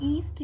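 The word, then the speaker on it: yeast: और ईस्ट जो है ये लिखा हुआ यीस्ट है लेकिन इसको पढ़ते ईस्ट है, बहुत सारे लोग यीस्ट भी कहते हैं लेकिन ईस्ट होता है, वाई साइलेंट।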